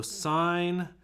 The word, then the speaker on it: sine: even though it's spelled sin it's pronounced sine if that makes sense so that's sine and